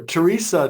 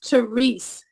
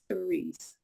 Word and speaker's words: Therese: to be with you and it's theres the E is silent at the end but the way they PR my mother pronounced my name was thees good good so um